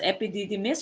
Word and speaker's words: epididymis: deferens or letter this proton this one is pronounced as epididymis or epd diamonds popped in okay which one